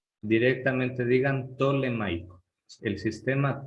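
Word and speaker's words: ptolemaico: Ustedes pronúncienla simplemente como si no existiera la P. Directamente digan tolemaico, el sistema tolemaico.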